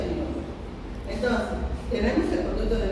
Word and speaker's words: Müller: Se pronuncia Müller.